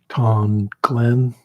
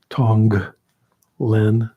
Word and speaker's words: Tonglen: for it dong Glenn in English we tend to say um T Glenn that just sounds like the way we break up the syllables but it's tongue Len meaning give uh receiving